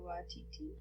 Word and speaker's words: Waititi: Oh yeah, made from Jermaine Clement and Taika Waititi. I'm not sure how to pronounce Yeah, that.